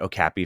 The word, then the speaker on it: okapi: Well, it's very funny because I've been pronouncing it Okapi for a long time, but in speaking to folks at the Okapi Conservation Project, that's how they pronounce it.